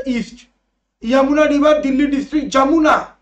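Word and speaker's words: Yamuna: ইয়ামুনা river Delhi district যমুনা actually উচ্চারণটা ইয়ামুনা নয় মানে ইয়ামুনা হয় উচ্চারণটা যমুনাটা হলো যেটা বাংলাদেশে যাচ্ছে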